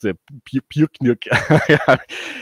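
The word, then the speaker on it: Пикник: the Russian rock band picnic pronounced pnik it's it's lowkey it's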